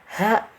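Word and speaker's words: ح: Ha masih tenggorokan ya. Jadi jangan sampai pengucapan ha ini keluar di dada. Nah, itu yang keliru karena ha ini bukan dari dada, hanya dari tenggorokan yang bawah.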